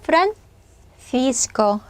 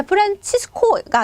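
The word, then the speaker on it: Francisco: 세리아 자 이렇게 부르겠죠 자 스페인어로 프란시스코 프란시스코 또는 프란시스코 자 프란치스코가 아닙니다 스페인어의 치 발음 날 때는 세체 예만 치 발음이 난다고 했습니다 절대로 그 이외에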